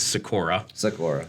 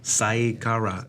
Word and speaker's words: Seykora: I've heard it pronounced so many poor ways. Seykora. Yeah. Seykora.